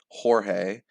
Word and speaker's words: Jorge: Mum and Lisa called me George, and everyone pronounced the name the Spanish way, Jorge.